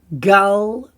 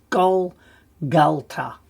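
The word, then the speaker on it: גלגלתא: So that can be gol because the kamatz, when it's in the first syllable and it's a closed syllable, it can be an O. So it's Gol-Gal-Ta.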